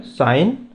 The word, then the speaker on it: sin: फॉर साइन इट is pronounce साइन ही करेंगे लेकिन इट इज़ SIN।